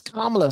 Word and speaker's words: Kamala: It's Kamala.